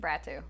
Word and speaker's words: Bratu: And, well, how do you pronounce it? Bratu.